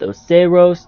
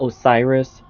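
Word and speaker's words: Oceiros: Yes, I believe it's pronounced Oseros, not Osiris. It's just how I think it's pronounced.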